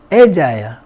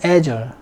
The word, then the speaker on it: agile: 영국에서는 agile, 미국에서는 agile. alert, all around.